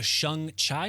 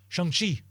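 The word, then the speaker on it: Shang-Chi: these yeah we'll do uh i'm going to pronounce this wrong the shung chai movie is that coming up next so close oh shangshi hopefully they teach me during the movie how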